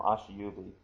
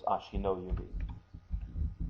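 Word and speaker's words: 足の指: you say it but to be absolutely correct and pedantic about it the correct term is ashino yubi Aso yubi the the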